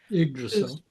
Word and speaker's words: Yggdrasil: be like the tree, I forget how to pronounce that. Yggdrasil.